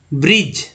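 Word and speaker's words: bridge: करना है, बचा जो एन और जी का उच्चारण करना। तो इसे क्या पढ़ेंगे, ब्रिज, ब्रिज ना कि ब्रिज, इसे पढ़ेंगे एज, एज नहीं पढ़ेंगे एज।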